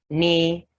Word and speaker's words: knee: you have not knock knee new knight and need to knead the dough so the k is silent in these words well i know you